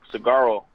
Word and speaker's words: Saguaro: We play a 0-0 game against Saguaro. I think the G is silent there.